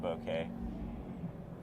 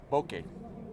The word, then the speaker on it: bokeh: team Boca or team bouquet bokeh okay okay okay yeah okay it's not bouquet it's not a bunch of flowers or anything like that and it's not Boca okay okay okay it Rhymes okay okay yeah it's